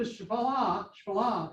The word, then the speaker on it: Shephelah: And this is the Shephelah is the way to pronounce it, which is the low hills.